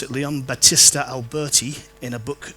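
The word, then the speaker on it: Leon Battista Alberti: often credited to um Leon that's how you pronounce it Leon Batista Alberti in a book called on painting which came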